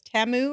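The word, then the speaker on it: Temu: realized this Super Bowl it's not pronounced teu it's TAMU or I always say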